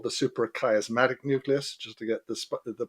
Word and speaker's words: suprachiasmatic nucleus: All right, there's a master clock in the brain called the suprachiasmatic nucleus, just to get the pronunciation right.